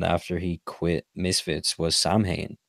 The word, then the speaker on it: Samhain: he quit misfits was Samhain well not my sound that's how I'd pronounce that's the proper way but everyone calls us I mean the sound is like the the Irish word for Halloween's the Irish Halloween Festival and so he's yeah